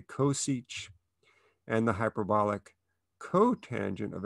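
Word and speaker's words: csch: one over sinch of x and we say coseach and the hyperbolic cotangent of x would be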